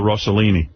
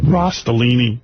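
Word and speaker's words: Rossellini: What about Isabella Roselini? No way. Right. That's so easy. It doesn't matter. He'll He'll get one little syllable wrong. Rostellini. Yeah. Isabella Rostellini. Isabella Rouselini.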